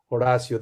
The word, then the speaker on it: Horacio: because if you if you were to study spanish you will know that the h is silent and so therefore my name is should be o apostrophe r a s s i o horacio that would be a